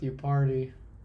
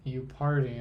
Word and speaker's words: Yupari: Just like my name kind of rhymes with you party. Again, that's how I got through college. You You party sounds like you party.